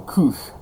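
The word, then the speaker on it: Kuš: comics I got from Koosh. Koosh is spelled K-U-S, and the S has a little diacritical mark that looks like a little U on top of it, and it's Latvian.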